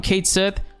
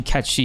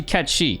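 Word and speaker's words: Cait Sith: comments from people saying hey it's actually catchy you're saying it wrong look it up whatever I looked it up they were right you know in Scottish uh Gaelic pronunciations is actually catchy go with the pronunciation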